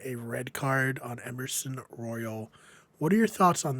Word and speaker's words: Royal: red card on Emerson Royal. What are your thoughts on this card? Well, two things. Number one, because nothing can be pronounced the way you think it's Royale.